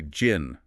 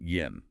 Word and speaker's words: JIN: would have us say "gin". But uh following the German phonetic rules of our text, that J operates like a Y, so we pronounce it "yin".